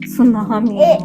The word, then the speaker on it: tsunami: happen what is that Tsunami Tsunami it's it starts with the T but the t is silent yeah and sink hles